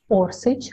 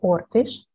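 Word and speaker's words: Oršić: Maria Orsk, sometimes her last name is pronounced as Orsic or Ortish, was born in Zagreb, Austria, according to another version in Vienna.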